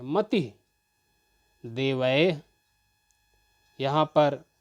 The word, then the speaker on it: देवैः: ता में छोटी ही है, और इस प्रकार से हम विसर्ग का उच्चारण इह के रूप में करते हैं। मति। देवैः, यहाँ पर वा में ऐ की मात्रा आई